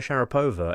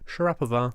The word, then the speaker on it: Sharapova: I just throw in that Maria Sharapova is actually Maria Sharapova yes if you're using the Latin so when Roman Abramovich